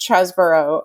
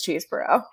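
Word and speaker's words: Chesebro: has anyone so according according to the Washington Post and uh air mail it is pronounced chesboro but his nickname in college or law school I'm not sure which was the cheese so you would be justified in thinking it was cheeseboro okay he's also from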